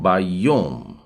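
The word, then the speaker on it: בַּיּוֹם: और अगला शब्द है योम यानी दिन, और मैं यदि कहता हूं बायोम, य का उच्चारण भी थोड़ा सा दबा के है, मतलब य ओ की मात्रा के साथ।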